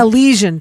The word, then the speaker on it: Elysian: Now also, and I might be mispronouncing Elysian Fields. Oh, Elysian Fields? Elysian, thank you.